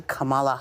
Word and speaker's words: Kamala: Well, it's not the a. It's ah. Yeah, I know Kamala. that, but It's like the Just think of what- emphasis is on the first syllable.